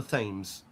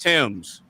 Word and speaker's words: Thames: Every every American every American I've ever met calls it either the tames or the thames, right? No, it's it's it's pronounced Tims.